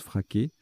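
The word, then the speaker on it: freak: Bien qu'on le prononce fraqué. Voilà, c'est l'anagramme de fric, F-R-E-A-K.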